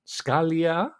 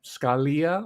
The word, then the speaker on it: Scalia: the flag draped coffin of Antonin Scalia or Scalia where you want to pronounce it I pronounce it Scalia and as you might